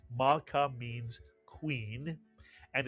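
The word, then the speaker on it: מַלְכָּה: What would the first syllable be? Mal is correct. The shva under the lamed tells you to add the lamed to the preceding letter and vowel. Ma to make the entire syllable mal. And the second syllable, ka, mitsuyan. That's a kaf with a patach and a hey. Put the word together, malka, mitsuyan.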